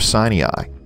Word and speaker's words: Sinai: the towns of elkton to the east and sinai to the west and yes that is the correct pronunciation of sinai the name was given to it by norwegian